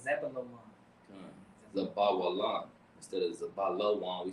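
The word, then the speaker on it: Zebulun: Yeah, Zebulon, but we say it wrong. We be saying Zabalawan, but it's Zebulon.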